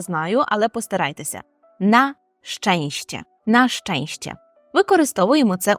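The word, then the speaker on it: na szczęście: - це на щастя і польською ми говоримо наченще На ченще дуже важко це вимовляти Я знаю але постарайтеся на щенще нащенще використовуємо це у реченні нащенще здонживам на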